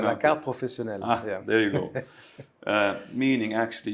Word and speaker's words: carte professionnelle: You have the carte professionnelle. Yeah. Jesus Christ, that was a really bad pronunciation. Can you say that, please? How do you pronounce la carte professionnelle.